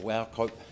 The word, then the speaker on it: Wauchope: Wauchope. It's all right. It's Scottish. It lends itself to mispronunciation.